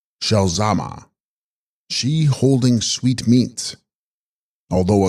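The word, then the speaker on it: ཞལ་ཟས་མ: hybrid of text corresponding Tibetan zal zma pronounced shalama she holding sweet meats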